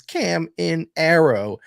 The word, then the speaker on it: Caminero: what, because again, we gotta, you said the name wrong. It's Caminero.